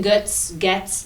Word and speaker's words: Götze: But your last name, Götze, from Gates, your... it's German. Gates. Yes, and we Not actually... Götze. No, some people pronounce it Getz, Uh-huh. but we, because we're different, we pronounce it Gates.